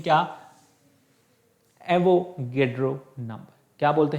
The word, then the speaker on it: एवोगैड्रो: कोई एवोगाड्रो भी बोलता है इसको, है ना, तो प्रोनाउंसिएशन इसका क्या है, एवोगैड्रो बोलते हैं वैसे तो इंग्लिश में, ठीक है, तो हिंदी में इसको एवोगाड्रो भी जो है बोला जाता है।